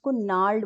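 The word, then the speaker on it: gnarled: बोलेंगे इसको हम नाल्डो नार्ड बोलेंगे इसमें जो जी होता है वो साइलेंट होता है नार्ड का मीनिंग क्या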